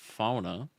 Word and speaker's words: fauna: And the marshes and ponds of this area host an impressive variety of fauna, pronounced like sauna.